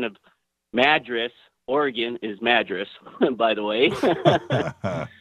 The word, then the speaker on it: Madras: and the correct pronunciation of Madras Oregon is Madras by the way it's spelled the same way oh yeah we get